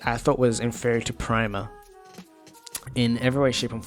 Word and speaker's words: Prima: Oh, I keep mispronouncing it. It's Prima. Prima Classic, I thought was inferior to Prima in every way, shape, and form.